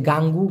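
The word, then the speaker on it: ganggu: আরেকটা কথা হচ্ছে বিরক্ত গাঙ্গু জি এন জি ইউ উচ্চারণটা হচ্ছে গাঙ্গু গাঙ্গু এবং কাঁচাউ দুইটার ক্ষেত্রে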